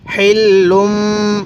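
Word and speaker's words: حِلٌّ: ওয়া আং তা হিল্লুম, পড়ুন হিল্লুম। আমি কিন্তু হাটা উচ্চারণের সময় মুখ দিয়ে হালকা বাতাস বের করছি।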